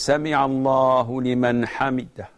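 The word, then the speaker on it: سمع الله لمن حمده: Brother Muhammad from the Emirates says that he prays behind an imam, and the imam, after saying Sami Allahu liman hamidah, he doesn't say it correctly.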